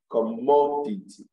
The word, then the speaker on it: commodity: syllable the ceased rule if you have words ending in c y p h y g y and a l you place the stress on this little salt from the end at least from the end you can three syllables backwards from the end you count one two three backward that third syllable from the end is what is stress so we have